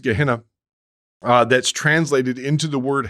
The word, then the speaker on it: Gehenna: these basics, but you have this Greek word pronounced Gehenna that's translated into the word hell.